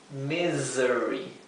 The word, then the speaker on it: misery: I y la E, esa S se pronuncia siempre como un zumbido, como una abeja. Z. ¿Bien? Misery.